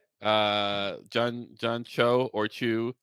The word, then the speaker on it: Cho: I was talking about which is John Cho, not John Chu.